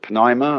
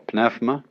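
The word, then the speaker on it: pneuma: the Greek word uh you may pronounce it Pima or pfma uh is the same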